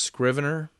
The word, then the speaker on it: Scrivener: the guys at literature and latte and it's pronounced Scrivener and it's something you can look up anyway Scrivener by literature and latte and I'd say more